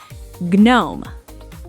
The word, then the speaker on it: gnome: Gnome. That's gnome. Silent G.